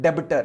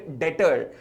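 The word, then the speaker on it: debtor: लिए बच्चे आते हैं वो भी इसे पुकारते हैं देबटोर ऐसे ग रहा किसी को ढाबा दिया हो डेप्सर नहीं देबटोर नहीं है बी साइलेंट है दिस इसे कॉल्ड डाटर डाटर ठीक है जिन्होंने आपको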